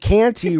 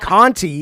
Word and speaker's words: Canty: Bunny, Bunny Button, and Canty, require a bit of a wait. Let me stop. Remember? Not to remember, but to go. It's not Conti. It's Canty.